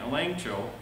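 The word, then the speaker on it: ἐλέγχω: the faith now again that's the word a length choke spell to g pronounced with an n elaine cho make the facts known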